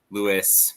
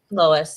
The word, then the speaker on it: Lois: And even though I know Maya has compared her other series to Louis McMaster Bujold, is that how you say her name? Lois, yeah.